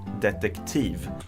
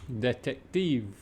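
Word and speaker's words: detektiv: know why that is it is difficult to mix the T sound together with the k sound in this case you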